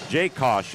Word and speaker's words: Jakosh: be stopped by Noah Jakosh. I hope I'm pronouncing that name right. Jakosh is the correct pronunciation. Thank you, Chris Garetano. Long A. Long A.